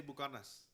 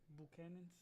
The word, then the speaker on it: Buchanan's: Like, how do you say Bucanas? Buchanan's.